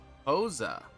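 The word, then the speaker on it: Xhosa: Hosa. Interesting. I don't think I've ever heard of an X being used for a K for a K sound. Usually it's a sh or X sound.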